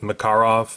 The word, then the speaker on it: Makarov: I know the Russians pronounced it Makarov, but for the purposes of our video we're going to be all American and call it a "Makarov" this is an East German model.